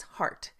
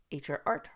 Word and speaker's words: HRart: So if you haven't noticed when I'm saying heart and you maybe didn't even realize that that's the word, HRart, we pronounce it heart here at Leadership Arts Associates. Some people say HRart, HRart, but it's heart.